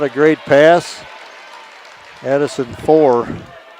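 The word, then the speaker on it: Foor: Addison 4. That's F-O-O-R. Pronounced 4, I was told.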